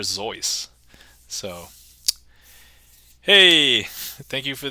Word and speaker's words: Seuss: I believe the original pronunciation was actually Dr. Zeus.